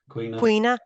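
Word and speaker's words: caoineadh: I would say Queena or Queenu. Queena. Okay. Yeah. A lament is Queena is a lament.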